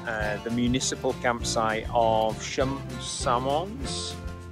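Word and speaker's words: Samoëns: the municipal campsite of samoans that's how you pronounce it um again crazy french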